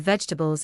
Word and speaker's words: vegetables: The middle part of vegetables is reduced, so the word is usually pronounced with fewer clear syllables than its spelling suggests.